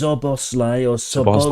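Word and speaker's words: Szoboszlai: so many times is zos oros no no I know I know it's very easy cuz SZ in Hungarian is just s okay there's no Zed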